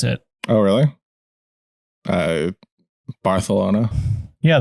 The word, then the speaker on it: Barcelona: Barcelona. Yeah, they do like a TH thing with the C in Spain, I'm pretty sure.